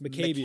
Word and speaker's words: Maccabeus: it's pronounced Maccabeus.